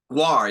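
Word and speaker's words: GWAR: Is it Guar? War, yeah, Guar is about to be on Tiny Desk.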